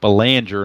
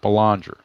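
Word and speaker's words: Belanger: in my little message the short stop for the Orioles is Mark Banger not balanger so his name is pronounced Banger you don't want to pull a a ID gesture on that so going when your upcoming season comes on remember to call him Banger and I will look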